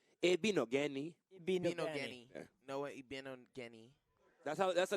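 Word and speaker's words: Igbinoghene: So a lot of times they won't pronounce the G, so just be Igbino Geni.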